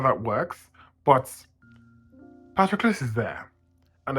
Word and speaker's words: Patroclus: Let's see how it's pronounced. Patroclus. Patroclus.